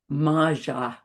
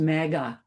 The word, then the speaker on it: Maja: Maja, not pronounced magga.